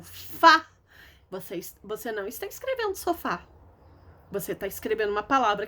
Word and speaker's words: sofá: Sofá. Se eu tiro o acento do sofá, fica sofa.